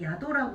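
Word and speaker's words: 宿: 얘 단독으로 나오면 야도라고 읽어요.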